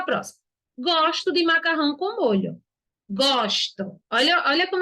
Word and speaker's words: molho: nos dois casos mas a pronúncia de molho e molho são diferentes por isso que a